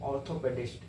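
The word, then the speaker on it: orthopaedist: ऑर्थोपेडिस्ट बोलते हैं ऑर्थोपेडिस्ट देखिए आर को हल्का साइलेंट करके बोल रहे हैं ऑर्थोपेडिस्ट आर को नहीं ऑर्थो नहीं बोल रहे हैं ऑर्थोपेडिस्ट ऑर्थोपेडिस्ट ओ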